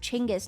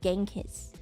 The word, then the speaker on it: Chinggis: Because I watched this show called Marco Polo, and I think in actual Mongolian it's pronounced Chinggis, not Genghis.